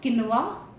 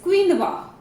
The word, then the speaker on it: quinoa: It is not quinoa, it is quinoa. Quinoa.